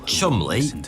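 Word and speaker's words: Cholmondeley: without being murdered by Germans Intelligence Officers Charles Chumley yes weirdly that is how you pronounce that and you and Montague were tasked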